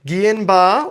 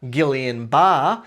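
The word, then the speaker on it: Guillain-Barré: So guanbar or if you're here in Australia, Gileian bar. So guillian bar is probably how you should be pronouncing it.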